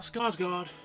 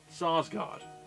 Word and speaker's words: Sarsgaard: it i'm sorry and peter salsgaard not skarsgard they have enough family members but this is sarsgaard not scarce god slash but i know